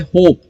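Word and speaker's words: hope: होप, okay, अगला जो word है वो है होप। सो इसमें भी एच को हम प्रोनाउंस करेंगे, ओ को प्रोनाउंस करेंगे हो, और पी, होप। ओके, लॉन्ग ए साउंड हम यहां पर बोल रहे हैं, ई साइलेंट रहेगा।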